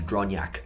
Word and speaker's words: Dronjak: up Stefan and then the last name is dronyak drawn Yaks shout out yet I was gonna